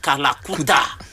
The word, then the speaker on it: Kalakuta: Named after the infamous dark hole of Calcutta, but pronounced Kalakuta.